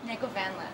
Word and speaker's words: Negovanlis: Negovanlis.